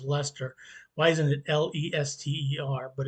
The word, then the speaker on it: Leicester: London tourists make is not knowing how to pronounce l-e-i-c-e-s-cr you're saying license that's what my mother's been to England she couldn't pronounce that they had to tell her it was Lester why isn't it l-e-s-t-e-r